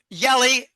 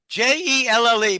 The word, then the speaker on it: Jelle: I think the central banks are going to use the Yelly, Jelle, but I think the Dutch pronounce it Yelly, Yeli Zylstra.